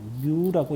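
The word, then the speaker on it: μ: 그래서 이렇게 뮤라고 읽습니다. 뮤라고 읽어요. 뮤.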